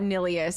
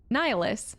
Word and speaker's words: Nihilus: It's not Nilius. Am I saying it wrong this whole time? There's no way. We had a whole conversation about this sooner. Nilius? It's giving Nihilus. It's definitely Nihilus? Nilius. Yeah. Nihilus. Darth Nihilus.